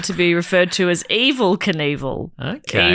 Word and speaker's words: Evel: So conval began to be referred to as evil conval. Okay. Evil rhyming with conval.